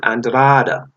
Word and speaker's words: Andrade: You're not going to fight one of the tops, and we don't even want to mention the name Demetrius Andrade, or some pronounce it Andrada, but Andrade.